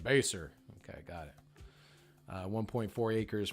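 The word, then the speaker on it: Basehor: Yes, it's pronounced Baser. When I first moved here, I was like, base whore? Base whore. Base whore? I'm like, how do you say that? And they're like, Baser.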